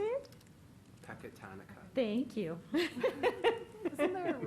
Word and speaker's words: Pecatonica: Pecatonica.